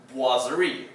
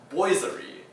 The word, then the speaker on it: boiserie: are pronounced for example this one is pronounced wasvery not boiserie so in here at the